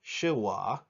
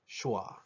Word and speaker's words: schwa: the word sha notice I don't pronounce it shuwa I pronounce it schwa some observations on these short vowels you notice